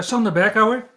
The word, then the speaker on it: Sander Berkouwer: about yourself yeah so my name is uh sonda beckhauer if in case you were asking that's how you actually pronounce it for me close enough close enough